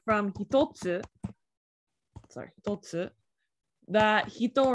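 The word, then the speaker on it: 一: But a lot of time, like from hitotsu, that hito right here, that so ichi can also be pronounced as hito, depending on the context.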